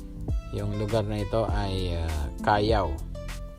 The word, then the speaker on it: Callao: Yung lugar na ito ay Callao. So kung babasahin mo siya sa atin is Calao. Pero Callao, Municipalidad de Callao. Silent L siya.